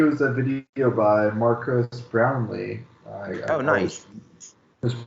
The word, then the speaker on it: Brownlee: I know me too I always want to say brownie instead of brown Lee and I'm like wait a minute that's not right yeah I always pronounce